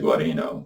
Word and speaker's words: Guarino: Ah, yes, Mr. Guarino. They pronounce it correctly.